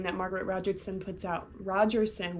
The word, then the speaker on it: Rogerson: Rogerson, why can't I say her name correctly? I'm putting a T in there for some reason.